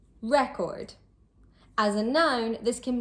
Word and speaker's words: record: As a general rule, with 2-syllable nouns, the stress is placed on the first syllable. Content, contract, object, record. And with 2-syllable verbs or adjectives, the stress is usually placed on the second syllable.